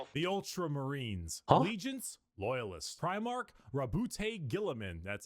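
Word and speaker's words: Roboute Guilliman: Primark Rabboute Gillamin.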